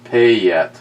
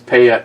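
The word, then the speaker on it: Payette: out eventually and poco the beer company is pronounced pay yet kind of oh it's payet kind of okay uh poco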